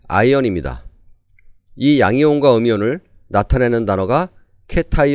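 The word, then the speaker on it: ion: 이입니다 이온은 우리말로 쉽게 표현한 한국식 발음이고 원래 발음은 아이언입니다이 양이온과 음이온을 나타내는 단어가 케타이 n 아이언이 음이온이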